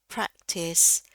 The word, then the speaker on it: practice: Still it was good practice to say it over ya. Practice bukan prack bukan prack ya bukan e bunyinya.